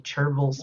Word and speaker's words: Churvil: visit one will be chal's place um c h u r i uh U RV i l it's like the the seasoning I guess is what tural is but